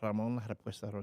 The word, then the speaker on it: Ramon Halapuesta Rodriguez: Ramon Halapuesta Rodriguez. Did I say it right? Yeah, you said it right.